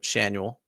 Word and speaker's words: Schanuel: the guy's name so I looked it up Shanel you want to guess what Nolan Chanel's middle name is Ryan yep you know I